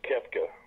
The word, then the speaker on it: Koepka: I tell you what, with him and Copa, Brooks Koepka, however you pronounce his name. It's Koepka.